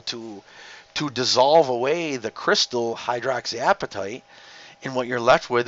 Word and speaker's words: hydroxyapatite: We call it hydroxyapatite. And that's not appetite like you're hungry either. You can see it's spelled A-P-A-T-I-T-E.